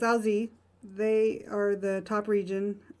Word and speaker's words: Alsace: I actually Googled how to say this region in France, and I did not write it down. Alsace, France. So it's Alsace.